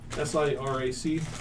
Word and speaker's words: Sirac: You get to make them How's pronounce it spelled? We are SIRAC.